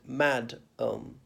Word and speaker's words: madam: or work situation no you emphasize the first syllable not the second mad um and the second a comes out like EU madam not madam and don't